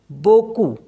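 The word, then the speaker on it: beaucoup: सारे next word है बोकू बोकू मीस होता है अ लॉट इसको पढ़ते हैं बोकू तो पी जो है इसमें साइलेंट होता है ऐसे ही एल ओ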